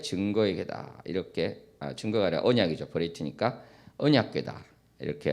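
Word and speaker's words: בְּרִית: 베리트니까 언약궤다 이렇게 할 수 있습니다. 언약궤가 아론 베리트 아도나이. 지금 이제 베리트라고 발음합니다만 이스라엘에서는. 그리고 또 이렇게 쭉 보면은 어떤 표현도 나오냐면 아론 아도나이.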